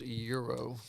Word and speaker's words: gyro: the last you say euro or gyro it's pronounced euro when you're in new york though what do you say euro gyro euro y'all crazy all